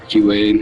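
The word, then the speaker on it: Arcueid: I be saying archy wade rcu. Like I just don't give a bro. Archie Wade. Not that bad. That's how you really say her name, though.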